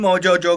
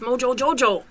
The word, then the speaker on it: Mojo Jojo: You can't even say his name right. It's Mojo Jojo. Or do you call maybe you're not as close as me and him. Oh, because you don't have to say the extra Joe.